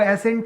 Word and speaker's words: ascent: दोनों के जो प्रोनाउंसिएशन होंगे बच्चा वो एसेंट ही होंगे। क्या होंगे, एसेंट होंगे। लेकिन एक ASCENT होता है और दूसरा ASSENT होता है।